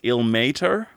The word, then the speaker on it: Ilmater: supposed to be pronounced ill Mater because not like sick Mater the truck from Cars it's like Tow Mater but without the toe um y but we're